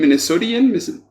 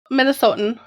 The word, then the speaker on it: Minnesotan: Minnesotian? Minnesotan. We pronounce our O's long, so Minnesotan is usually what Minnesotan.